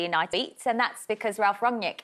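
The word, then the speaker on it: Ralf Rangnick: beats and that's because ralph wrongnik it looks like i keep trying to pronounce that correct in the german sound right close enough it's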